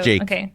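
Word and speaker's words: JVKE: up I love Jake is that how you say it cuz I'm like is it Jake it's Jake yeah Jake let's up yeah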